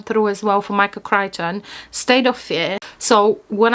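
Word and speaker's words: Crichton: Uh I think in January at the beginning of this year I have read the Andromeda strain by Michael Kryton. Notice how beautifully I pronounced his name.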